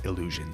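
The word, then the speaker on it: Elysion: way the city uh it's spelled like a lesion but in the game they pronounce it as illusion so I'm gonna pronounce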